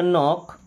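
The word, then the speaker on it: knock: क्या बन जाता जन अब कुछ लेटर्स कुछ वर्ड्स में के साइलेंट होता है जैसे यहां पे के साइलेंट है एन के पहले हमेशा के साइलेंट ही होता है ये बन जाएगा न्यू क्या बनेगा न्यू ये बन जाएगा नो ये बन जाएगा नॉक ये बन जाएगा नाइफ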